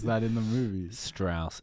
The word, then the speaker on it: Strauss: that in the movies Strauss it's actually pronounced straws L Sho Sal yeah